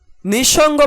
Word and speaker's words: নিঃসঙ্গ: লিখেছি অর্থাৎ দৃত্ত করেছি নিঃসঙ্গ বানানে বিসর্গ থাকায় তার পরবর্তী বর্ণ দন্তস এর উচ্চারণ দৃত্ত করে আমরা দুটি তালব্যস রেখেছি শব্দের শেষে বিসর্গের উচ্চারণ